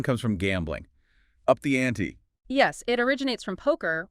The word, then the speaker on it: ante: And pronounced like the name Annie, right? Up the Annie.